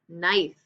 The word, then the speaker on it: knife: knit a blanket K in front of it knife I cut my steak with a knife sneaky